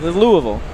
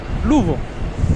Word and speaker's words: Louisville: Yeah, it's not that that's two syllables. it. There's somewhere between two and three syllables is a proper way to say it. Louisville. Louisville.